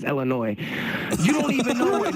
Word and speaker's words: Illinois: Don't say Illinois, nigga. The S is silent. It's Illinois.